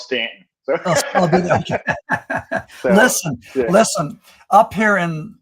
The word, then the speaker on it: Staunton: the way you pronounce Staunton. I mean, it looks like it's pronounced Staunton, but everyone calls it Stanton.